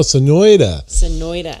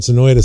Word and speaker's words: Sonoita: I should go too said no but no Sonoita and I would only know I got a friend Sonoita Sam with otherwise I wouldn't know how to